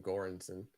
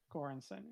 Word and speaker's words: Göransson: Thanks, RFB, for the proper pronunciation of Ludwig's last name, Göransson. Göransson, yeah.